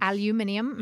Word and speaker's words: aluminium: So I'm the hoping that aluminum is one of the ingredients. Aluminium.